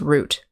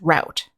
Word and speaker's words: route: our next word is root root can also be pronounced route it has the same meaning root or route and it means the